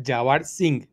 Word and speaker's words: Yavir Singh: Bueno, para ponernos en orden de importancia, Yavir, es relevante decir que tu nombre se pronuncia Yavir Singh, ¿no?